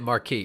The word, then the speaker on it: Marquis: It's 100% Marquis. It's like Marquis de Sal.